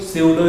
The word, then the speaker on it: pseudo: स्यूडो पी से start होता है, PSEUDO, स्यूडो इसको बोलते हैं, पी साइलेंट होता है।